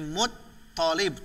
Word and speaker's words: Muththalib: bin Abdulloh bin abdul-muththalib bacanya Mutholib bukan Mutholib tapi mod Tholib pokoknya yang tasydid orang biasanya butuhkan Mutholib itu salah harusnya Mutholib diulang Muhammad bin